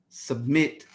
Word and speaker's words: submit: And submit, submit. Stress is on the second consonant, second syllable.